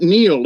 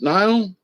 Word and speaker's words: Niall: And, he died under mysterious circumstances, but that's not Neil, is it? It's Niall Parkinson. I want to pronounce your name right. I'm very, particular about pronouncing things right if I can, but it looks like Niall and not Neil.